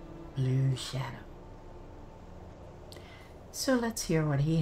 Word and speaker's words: Bloo'Shadow: This is my new character, and his name is Bloo'Shadow, and it's spelt B-L-O-O hyphen shadow, Bloo'Shadow.